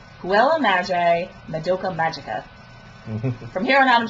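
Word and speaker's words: Puella Magi Madoka Magica: got to see for, okay, I'm going to pronounce this right, Huela Magi Madoka Magica.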